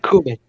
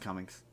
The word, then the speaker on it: Cumming: That Kuman. Alan Kuman. no, it's pronounced Cummings.